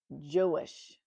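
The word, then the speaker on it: Joash: So, um, I did look up J O and it is pronounced Jewish. Yay for the Old Testament. That's all I got to say. Let's go. Joish was only seven when he began his rule that lasted 40 years.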